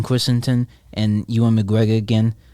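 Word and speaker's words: Christensen: though um seeing Hayden Christenson I pronounced it wrong Hayden christon and you and McGregor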